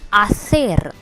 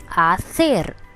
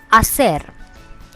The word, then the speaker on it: hacer: The H is silent as always, so the pronunciation of this part is A, not Ha but A, and the C is pronounced as TH of English.